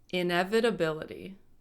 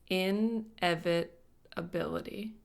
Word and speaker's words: inevitability: had trouble pronouncing it let's break it down in prefix meaning not evit Latin root coming from a word meaning evade or avoid ability having the quality mentioned inevitability inevitability inevitability that's the noun form